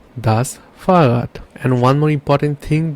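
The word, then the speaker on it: Fahrrad: say bike in German this one called thus farat thus farat and one more important thing that you have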